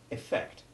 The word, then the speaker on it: effect: stress of the word as in effect and event in both of which the strongly stressed second e is short e1 the very opposite of